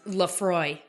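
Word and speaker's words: Laphroaig: that Scotch over there is Lafroy, but it's got like a G in Lafroy.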